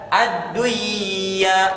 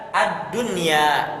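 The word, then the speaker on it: الدنيا: bertemu dengan Ya namun dalam kata ini kita tidak membacanya dengan dengan Idam bunah tidak kita baca adduya tidak melainkan kita baca addunya sekalipun kaidahnya seperti am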